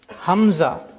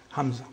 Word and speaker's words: hamza: Hamza. Which means the closure of the glottis. You know, there are vocal cords. If they come together, the glottis is closed, then hamza is pronounced.